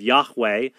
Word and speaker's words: Yahweh: By the way, they call him Jehovah because they combine the vowels for Adonai with the Hebrew tetragrammaton. So we have Yahweh, the traditionally assumed pronunciation of God, replaced with the vowels for Adonai.